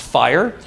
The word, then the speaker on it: FHIR: announced that they're working on developing fhir which pronounced fire for medical records essentially an interoperability platform that